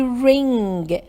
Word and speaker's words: ring: Can you hear the ing at the end?